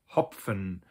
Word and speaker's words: Hopfen: For instance, the word hopfen, you actually do kind of pronounce the p and the f separately.